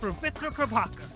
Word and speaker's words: Pavitr Prabhakar: do is copy or try to tap your tongue against the ridge of your mouth and say his name the way that he does. My name is Pravitra Prabhakar.